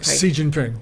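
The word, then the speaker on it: Xi Jinping: say his name as clearly as you say Xin Jie ping si Jin ping si Jin ping okay that guy so we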